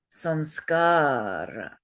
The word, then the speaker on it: samskara: Now, this word has 3 syllables, but 4 beats. And why is that? Simple answer again. 2 shorts and 1 long. 2 shorts and 1 long, exactly. And I'll just point out